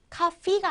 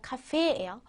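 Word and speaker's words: Kaffee: 거는 커피라는 뜻의 독일어입니다 주의하셔야 될 거요에 두 개 나와도 에라고 읽는 거 아시죠 카피가 아니라 카페예요 아말 카페 밑에 밑에는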